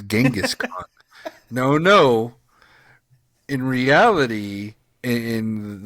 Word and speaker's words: Genghis Khan: thinking I said he said chingus Khan It's Genghis Khan no no in reality in the people of Mongolia say it is pronounced chengis Khan and he said he talks about it in